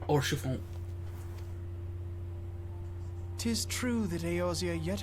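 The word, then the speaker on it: Haurchefant: You didn't even pronounce the H. Orchefon.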